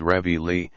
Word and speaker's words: reveille: In the American army it is ingeniously called reveille, and to that pronunciation our countrymen have pledged their lives, their misfortunes, and their sacred dishonor.